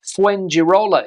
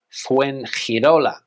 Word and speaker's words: Fuengirola: Fuengirola is how an English speaker would pronounce this place, but in Spanish, Fuengirola, Fuengirola, Fuengirola.